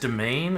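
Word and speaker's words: demesne: It's just domain.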